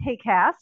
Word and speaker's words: HAQAST: the uh the uh team which we pronounce hey cast it's a funny acronym